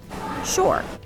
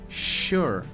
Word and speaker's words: sure: palavrinha sure simples né atentando aqui a pronúncia de sh sure sure que é o mesmo S que a gente escuta por exemplo na palavra shower shower sure então cuidado aqui para não suar com o s s como em House